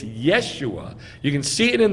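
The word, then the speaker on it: ישוע: So we have undisputable proof that the name of Yeh-ho-shua, full, if you shorten it, it is not Yahshua. It's Yeshua.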